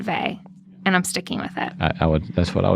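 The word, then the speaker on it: Weil: Is it Simone V? That's the way I That's how I've always pronounced it too.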